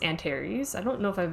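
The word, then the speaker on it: Antares: The Antaries is the name of a star. I think it's pronounced Antar's.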